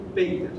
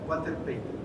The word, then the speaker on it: Walter Pater: Entre ellos uno, el más importante, Walter Pater. Yo prefiero pronunciarlo Pater, para ser un poco más latín, pero bueno, se debe pronunciar Walter Pater.